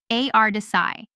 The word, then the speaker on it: A.R. Desai: Desai, pronounced A.R. Desai, one of India's prominent Marxist sociologists.